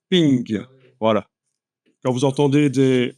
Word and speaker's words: PNG: l'abbréviation portable network graphics mais en fait ça se prononce ping en anglais ping voilà quand vous entendez